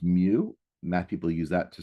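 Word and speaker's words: μ: So this little symbol here which pronounced mu, math people use that to stand for mean.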